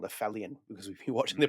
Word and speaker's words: Aphelion: This is Aphelion.